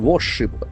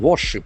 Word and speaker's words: warship: Second Iranian warship, w a r s h i p. So this is a very interesting single word noun. Warship. Warship. Warship, okay. The middle r is silent.